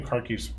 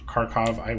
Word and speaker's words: Kharkiv: And I think the new Kharkiv's pretty good. Kharkov, so you might pronounce it Kharkov. We have a lot of Russians in the office that keep making me say Kharkiv.